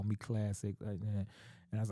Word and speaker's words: Klazik: so that's when I changed my name to Classic but I spell it k-l-a-z-i-k because I was Laz at